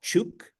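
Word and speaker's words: Chuuk: distance from truck Lagoon which is now called chuk which is the more appropriate uh pronunciation and both of those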